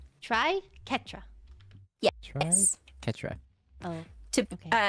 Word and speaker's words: Triquetra: The Q and the U are hard. So it says Triquetra. Never mind. Ketra. Try Ketra.